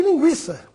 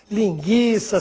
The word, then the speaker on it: linguiça: não seja mais usado, a pronúncia das palavras que recebiam o trema continua a mesma. Ou seja, devemos continuar pronunciando a letra U. Portanto, nada de falar linguiça, sequestro, cinquenta.